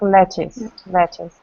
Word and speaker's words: lettuce: Зеленые листья салата это lettuce, который пишется летук, yes, но читается как lettuce.